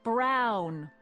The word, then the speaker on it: Brown: to a tea That's EMT Brown rhymes with clown own which I'm beginning